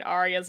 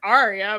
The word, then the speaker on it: Arya: just it kills me the ones that can't pronounce the r in arya's name and they say like it's like that's the moment you realize george r.r martin is not english because he wrote a name like arya you say it as